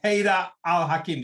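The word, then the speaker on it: Haidar al-Hakim: this call of risk podcast dr ada with haida al-hakim did i pronounce it right yes sir you have i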